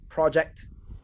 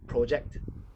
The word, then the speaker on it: project: a noun it's a project if it's a verb it's project i am projecting my voice for this project right trump i know